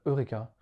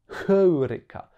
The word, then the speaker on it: Heuréka: grec vous voyez que sur le U au dessus on a une espèce de petite virgule et en fait cette petite virgule signifie que le mot était prononcé avec un h au début c'est pour ça d'ailleurs que dans la transcription on a bien un H temps Eureka et donc déjà on devait penser comme Eurêka comme en anglais deuxième petit